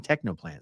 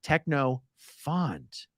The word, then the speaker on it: Technofont: Oh, Technofont. I was saying Technoplant. Sorry. Pronounced Technofont.